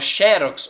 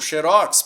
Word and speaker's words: xerox: do Rouxinol beleza e a palavra xerox ou xérox por se tratar de uma marca aí eu posso ter as duas pronúncias tá bom eu posso ter tanto xerox sendo uma paroxítona terminada em x do Rouxinol aí eu tenho que pôr o acento ou senão ela vai ser uma oxítona xerox última sílaba tônica